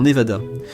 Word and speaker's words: Nevada: Les habitants disent VAD dans Nevada, tandis que les autres disent VA les Névadans, les Névadans.